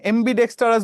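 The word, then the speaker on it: ambidextrous: তো দেখি এই জায়গায় একটা এমবি ডেক্সটারস এর উচ্চারণ ডেস্কের মত হয়েছে না ডেস্কে ডেস্কে হাত রাখি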